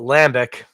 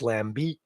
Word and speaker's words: lambic: Don't be tempted to call it lambic. You got to lean into that last vowel. It's lambic.